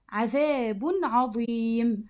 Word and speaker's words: عذاب عظيم: هتفتح سورة البقرة آية رقم 7: عذاب عظيم. عذاب. طيب التنوين هنا اللي بالضم نطقناه زي ما هو عذاب، ما قلناش ايه عذاب عظيم، لا ما عملناش هنا غنة، يبقى عذاب عظيم بس كده.